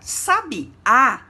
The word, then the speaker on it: sabiá: Quando pronunciamos sabia, não possui acento, não é verdade? Quando a gente pronuncia sabiá, percebemos o acento agudo na última letra. E quando pronunciamos sábia, percebemos o acento agudo na letra A, que segue o S.